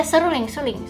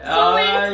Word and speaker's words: suling: She said suruling. You're wait, not. Did she say it wrong? Or? Yeah, she said it wrong. Oh no, I just came from it. Thanks, bro. Wait, Erna. Suling. Yes. Go ahead, Erna. Suling. S-U-L-I-N-G. So, how do you spell it? S-U-U-L-I-N-G. Yes, that's correct. Oh, sorry. So, suling is correct.